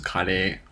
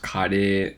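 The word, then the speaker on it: カレー: a fatty substance yuck curry in japanese is kade it's so different right i finally started watching your other channels thanks bruh no problem and welcome curry is pronounced khadi in japanese it's pretty different now keep in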